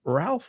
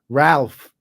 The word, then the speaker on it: Rolf: It's a German pronunciation. It's like Ralph. How you would say like Ralph Cramden? Kind of, not exactly.